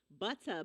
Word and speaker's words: Buttah: Butter Baby, and that's spelled Buttah. Butter Baby.